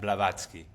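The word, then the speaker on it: Blavatsky: all of these books and you know Madame Bolaf Bolas, how do you say her name? Blavatzki.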